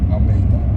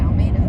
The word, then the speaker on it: Almeida: The E comes first. I've been saying your name wrong for a year. So has the rest of America. Say it, May. Almeida. Not like May. Say like the month May.